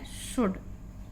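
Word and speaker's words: should: में पड़ चुके हैं l के बाद जब भी आती है तो L साइलेंट रहता है इसलिए यहां पर इसका उच्चारण शोल्ड फॉलो फॉलो मींस नियमों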